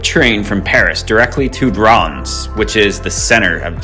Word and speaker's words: Reims: we got our uber right here hello uh all right today new day we're heading to bronze or as you would maybe pronounce it rheems or runs very historical french city about 90 miles east